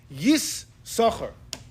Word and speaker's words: Yissachar: You pronounce both chins, but you know how you pronounce it? Yissachar.